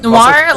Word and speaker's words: noir: Noir.